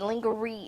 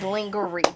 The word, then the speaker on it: lingerie: Jamie Foxx was the first person that taught me that lingerie is not the correct way to say lingerie, but that's how I've been saying it ever since in Living Color and Wonder. It is lingerie.